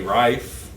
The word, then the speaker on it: Reiff: But I will say that I did read yesterday that Riley Reiff, is that how you pronounce it?